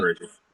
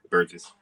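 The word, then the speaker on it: Buress: That's how you pronounce his last name. I That's right, forgot. Burgess. Yeah, Burgess.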